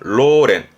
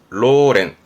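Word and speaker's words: 老練: 로징 연습에 연자이기도 하고요 노련함입니다 발음은 로렌 로렌 이거는 나 형용사로써 뭐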